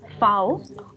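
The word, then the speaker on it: Vau: V is foul. Foul. Foul. So V here has Foul. first sound. So Foul. anything Foul. which would be, yes, so anything which would be starting with V, we won't say it from V sound, that would have first sound.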